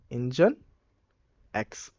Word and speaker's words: Nginx: solution then they created engineext which is actually pronounced as engine x okay so let us